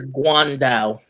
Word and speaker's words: Guandao: By the way, it's Guandao. Guandao. It is Guandao? Yes. That sounds like a Cantonese pronunciation. It's Chinese.